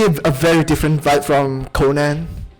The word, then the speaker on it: Conan: very different vibe from conan or konan i guess i should say the japanese pronunciation konan but man conan is